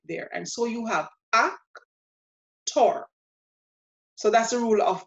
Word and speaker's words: actor: And so the stress is going to be on the last syllable, the tor. And so this word, in pronouncing it the Spanish way as an exact cognate, becomes actor, actor, actor.